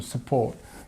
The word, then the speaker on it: support: can help and support it's got this a this long sound and we've got this shwah here as well so support the the the stress is on the second part of the word so I'm here to